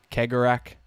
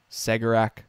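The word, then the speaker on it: Cegorach: uh some people say kegger rack some people say segarak sigorak whatever yeah i'm i'm going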